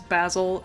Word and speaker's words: Basil: story all right so in America we pronounce it basil but in the movie It's basil and I need to remind myself to call him basil so data look at